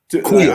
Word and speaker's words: Aqeel: Queel. I'm not being a Queel. Queel, Queel. It is. Although there's no U there, there's a U there. You know what I'm saying? Okay. So it's spelled Aqeel. Okay. And there should be a U in there. So we were calling him Akil too for like a year or so, but it's a Queel.